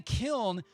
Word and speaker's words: kiln: Kiln is spelled K-I-L-N, but the N is an ex post facto pronunciation. It used to be spelled kill. Old Scottish poems would be like, I'm going to get my thrill by throwing you in the kill, because the N was not pronounced, much like the N in damn. Only recently did we start pronouncing the N.